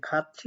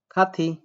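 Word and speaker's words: 갔지: উচ্চারণ করতেছে কিভাবে দেখেন এটার উচ্চারণ তো হয় কি খাতি কারণ এটা হচ্ছে থিউর তাহলে সেই অনুযায়ী থিউর যদি এখানে উঠে যায় থিকারে থি হয় খা খা থিকারি খাতি বাট এটার উচ্চারণ খাচ্ছি হচ্ছে আমিও খাচ্ছি বলতেছি বা তারাও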